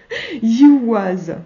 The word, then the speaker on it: Ehwaz: Ehwaz, plutôt. Voilà, le son ye de yaourt et de yeux. Ouais, le ye, oui, d'accord, ok. Et le son w de waou waterclust.